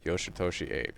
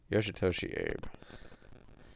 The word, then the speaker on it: Yoshitoshi ABe: the story for it yoshitoshi ape yes yes am I not pronounce it here I'll show you yoshitoshi Abe that's his name he pronounces it Abe at the end oh I think at